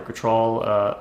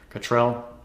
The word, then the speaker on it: Cottrell: cotrol Cottrell actually is the pronunciation Cottrell dr.